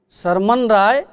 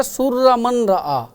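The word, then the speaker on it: سر من رأى: سرمن رائے میں ہوئی۔ سرمن رائے یہ فارسی اور اردو تلفظ ہے، اس کا عربی تلفظ ہے سر من رآ، جس کا معنی ہے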